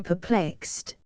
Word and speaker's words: perplexed: 37 Perplexed, interwoven, entangled, lat pulcto, to plait or twist. The word is here used literally and is therefore applicable to inanimate objects. The accent is on the first syllable.